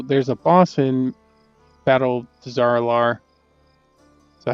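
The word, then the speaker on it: Dazar'alor: So there's a boss in Battle Dazaralar. So how you say it? Dazaralar?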